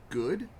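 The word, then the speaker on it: Gaux: It's at a place called Go Brewery, which is spelled the way it's supposed to be spelled, G-A-U-X.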